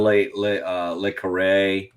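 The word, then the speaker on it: Le Carré: John Le Carre, I think is how you say it.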